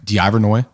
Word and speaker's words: Deivernois: it's spelled d-e-i-v-e-r-n-o-i-s how do you say your last name d ivernoy where's where's that come from it's french oh wow so no